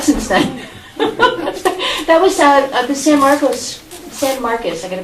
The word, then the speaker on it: San Marcos: That was the San Marcos, I got to pronounce it properly. I'm a former Spanish teacher, so to me it's San Marcos, but I'll say San Marcos if you guys make me do it.